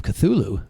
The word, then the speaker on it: Cthulhu: Call of Cthulhu. Oh, Cthulhu. Cthulhu. No, it's Cthulhu.